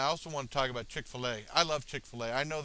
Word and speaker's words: Chick-fil-A: And then I always said ChickfilA. I always pronounced it wrong.